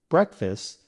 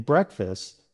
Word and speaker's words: breakfast: In breakfast, the first part, brek, is stressed or emphasized. The second part, fast, is unstressed, so the vowel sound changes to a short I sound, as in fist.